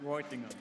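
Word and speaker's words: Reutlingen: ESP Business School in Reutingen.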